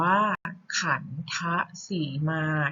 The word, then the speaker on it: ขัณฑสีมา: อย่าง คำ นะ คะ ข่าน ธะสีมา อ่าน ว่า ขัน ทะ สีมา เห็น ไหม คะ ว่า ออก เสียง เป็น ทรหาร คำ ว่า ขัณฑสีมา จะ